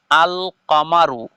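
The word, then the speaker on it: القمر: আছে আল কামারু আশামসু কিন্তু দেখেন যে প্রথম শব্দ যে আমি উচ্চারণ করলাম আল কামারু এই জায়গার মধ্যে লাম শব্দটা স্পষ্টভাবে উল্লেখ হচ্ছে লাম শব্দটাকে আমরা স্পষ্টভাবে পড়ছি আর শামসুর মধ্যে এ জায়গার মধ্যে লাম শব্দটা লেখায় এসেছে কিন্তু উচ্চারণে আসছে না লেখায় আসছে উচ্চারণে আসছে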